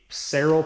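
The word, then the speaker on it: Saral: but you always want to make sure the seral paper I that's how you pronounce it it's like s a r a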